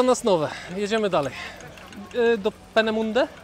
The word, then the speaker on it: Peenemünde: Jedziemy dalej do Penemunde. Jak to się panie Olu wymawia? Peneminde. Peneminde.